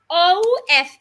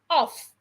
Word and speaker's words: of: have o f f o f f the two FS sounds F off turn off the TV but when you have o f just one F the F sounds like a V of of the food